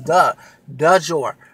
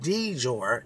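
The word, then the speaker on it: Dejour: o u r but it's du dour not dour it's dour okay it's D it's du D not d e but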